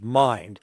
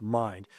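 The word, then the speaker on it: Mynd: And then when we started checking into the the corporate property management company, which is mind, which is spelled M Y N D but pronounced mind, we started seeing a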